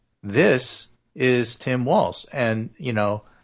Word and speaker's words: Walz: This is Tim Walz. And, how do you pronounce his name? Balls to the walls.